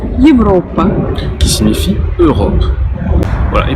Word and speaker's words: Европа: qu'on retrouve par exemple comme dans le mot Европа, Европа.